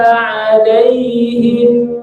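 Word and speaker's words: عَلَيْهِمْ: Jadi mimnya itu ada aliran dikit suara mim. Alaihim ghairi jangan terlalu cepat. Alaihim ghairi jangan gitu ya. Jadi ada aliran mim sukun. Bainiyah disebutnya. Ya.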